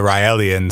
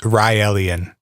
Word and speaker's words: Raelian: So Rael is the leader of the Raeliens. So Yep. it's Raelian is Raelian, Okay. as in rye bread, and then sorta alien.